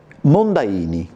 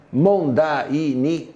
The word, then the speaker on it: Mondaini: Ah poesto sì eh Perché Vianello sono tre sillabe Eh sì Mondaini son quattro Sì sì sì quindi penso che siano quattro sillabe E allora ti allunga